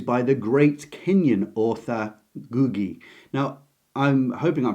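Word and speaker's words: Ngũgĩ: interviews of him and he seems to say that to my ear the N seems to be completely silent in pronunciation but I'm bound to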